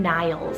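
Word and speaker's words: Nyles: And then my second name for N is the name Niles, so spelled N-Y-L-E-S, and this one's actually a Scandinavian name and it means son of Neil, and then Neil means cloud and is Irish originated.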